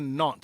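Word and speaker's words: Nantes: She's a knot, I believe, associate. She's a knot. Not not it's it's spelled N- A N N A N T E S. But it's not.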